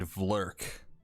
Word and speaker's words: Vlrc: There's someone named Vlurk. It's spelled VLRC.